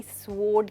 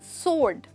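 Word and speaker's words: sword: मुझे पूरा भरोसा है कि मैक्सिमम लोग इसको अभी भी स्वॉर्ड कहते हैं, जबकि इसमें डब्ल्यू नहीं बोला जाता है, आप कहते हैं सोर्ड।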